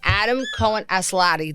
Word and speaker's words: Adam Cohen Aslatei: His name is Adam Cohen Aslatei.